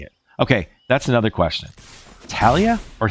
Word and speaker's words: Thalia: Because it looks like it should say Thalia, and I figured that's how most people who speak English would pronounce it. But I feel like it's supposed to be Thalia.